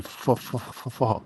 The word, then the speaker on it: pho: It's spelled PH. H. Oh. Yes, but pronounced. Pho.